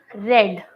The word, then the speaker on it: read: The spelling is same but you pronounce it red. Pronounce red.